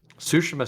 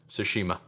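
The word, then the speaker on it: Tsushima: which is Ghost of tashima is it sushima or tashima I think it's I think it's sushima or sushima don't of tomato Toano but it's definitely the t is silent so sushima sounds better I I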